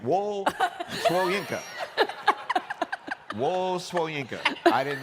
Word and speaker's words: Wole: It's Wole Soyinka, by the way.